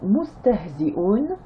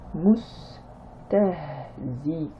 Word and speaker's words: مستهزئون: Donc mustahzi'un, mustahzi'un, le a à la fin ne se prononce pas.